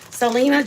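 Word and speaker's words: Celena: I said to myself how do I say your name and I said is it like Selena just like Selena Selena cuz it's spelled with a c hey berky um and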